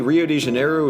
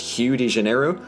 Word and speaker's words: Rio de Janeiro: make very little sense, apparently Rio de Janeiro is supposed to be pronounced Hugh de Janeiro. And to that I ask one question, and that is, what did the letter R ever do to you guys?